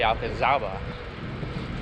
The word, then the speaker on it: Alcazaba: being here 2 years, because in Spanish you pronounce the Z with the th sound, so it would be Alcazaba, but you pronounce the Z, I guess, because it was from the Moors, so that's where the name came from. So you say Alcazaba.